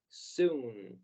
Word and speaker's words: soon: And this word is pronounced as soon. Muchos autores dicen que la doble O se pronuncia como U.